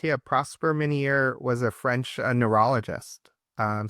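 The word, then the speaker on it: Ménière: Uh so an says um I don't know how you pronounce this. It looks like another French word. Minire's disease. Is that how you say it? Uh you are correct. Yeah, Prosper Minier was a French neurologist.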